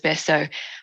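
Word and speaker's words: Betio: and the capital is Besso. And as you've probably noticed, the local pronunciation of TI becomes an S. So that's the background between the Kiribati and the Besso.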